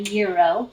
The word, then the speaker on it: gyro: you how to build a gyro or a gyro if you want to say it right um so a euro